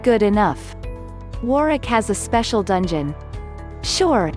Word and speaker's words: Warwick: I was reminded that the castles name is pronounced Warwick but the castle has a dark secret well